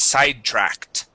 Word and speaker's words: sidetracked: The word is sidetracked. Sidetracked. Okay. With the TR here, we want to pronounce that like a CH.